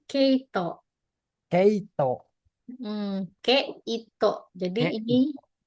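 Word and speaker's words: 毛糸: Itu dibacanya keo. Keito.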